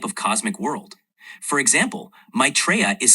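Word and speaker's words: Maitreya: It's typically pronounced as maitraa.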